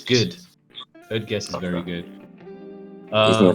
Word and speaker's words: Code Geass: Code Geass.